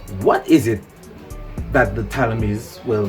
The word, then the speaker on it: Ptolemy: Anyway, today's bill is going to be upon what is it that the Ptolemy'S, well, they say that the P is silent, but most people know them as the Ptolemy'S, but it's the Ptolemy'S.